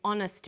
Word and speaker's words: honest: So we say a happy man but an honest man. The H is not pronounced. So honest sounds like it starts with a vowel.